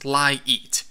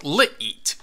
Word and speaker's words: LiEat: I think it's supposed to be pronounced LiEat, but the way it's spelled, it should be pronounced LiEat. The capital E clearly separates the words.